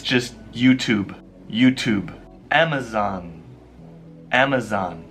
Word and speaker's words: YouTube: email you son you can Second Empire young you to be you to be it's just YouTube YouTube Amazon Amazon how about your favorite shoe